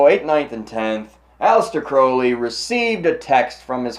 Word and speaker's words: Crowley: a gentleman named Aleister Crowley not Crowley Crowley Aleister Crowley pet peeve of mine I'm sure it was a pet peeve of his as well because he wrote about it on how to properly pronounce his name so I to Crowley